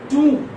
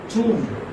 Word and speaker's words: tomb: This is Tomb. Same as we have Doom.